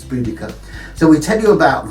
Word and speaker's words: Boudica: We pronounce it different ways. When I was young it used to be Boadicea, but now I believe it's Boudica.